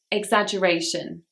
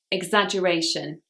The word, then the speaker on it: exaggeration: Number 31 is exaggeration. Exaggeration. This word has 5 syllables and the stress is on the 4th syllable.